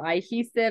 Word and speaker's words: Eyehesive: So kind of like cohesive, like coming together, sticking together, but I just put I in front of hesive. So Eyehesive.